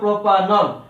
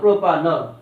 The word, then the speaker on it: প্রোপানল: তো প্রোপেনের ইটা চলে গেলে তার সঙ্গে যদি অল যোগ হয় তা প্রোপানল, উচ্চারণ হবে প্রোপানল। প্রোপেন যোগ অল, প্রোপানল।